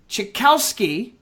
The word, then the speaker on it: Cichowski: We have Mark Cichowski of Clarity AV International, and I believe I got that right.